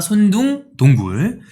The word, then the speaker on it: 손둥동굴: 손둥동굴, 손손동굴. 근데 손둥동굴입니다. 손둥동굴.